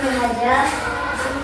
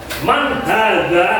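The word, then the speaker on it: من هذا: Man haja man haza. Man hadza bukan haja ya, bukan haja tapi menggunakan huruf huruf dal.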